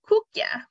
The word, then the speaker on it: koekje: Koekje. Koek is the word for cake, and je in Dutch is like a diminutive. So koekje is like a little cake or a small cake.